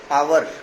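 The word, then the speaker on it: hour: बहुत बहुत से लोग इसे हावर पढ़े हैं। अगर आप हावर इसे पढ़ेंगे तो फिर ये इसका इसको इसके आगे आप एन नहीं लगाएंगे। ए लगाने पर मजबूर हो जाएंगे। बट इफ you pronounce it एज आवर या आर दिस इज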